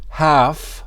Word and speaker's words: half: We will eat half of the papaya. We will eat half of the papaya. Half. We don't pronounce the L.